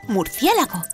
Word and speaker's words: murciélago: sílabas Como por ejemplo la palabra murciélago que tiene cuatro sílabas mur cé la Go también sabemos que la